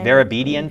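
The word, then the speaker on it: Vartabedian: playing field, Verabedian Field, is that how you pronounce it? Verabedian Field, yeah.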